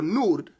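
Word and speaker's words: נוד: The word Nod or Nud would be how you say it.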